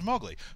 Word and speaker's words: Mowgli: It was intended by him to rhyme with cow.